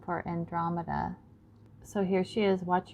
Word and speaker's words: Andromeda: also look at this Andromeda Andromeda sorry I put the emphasis on the wrong syllable so Andromeda her name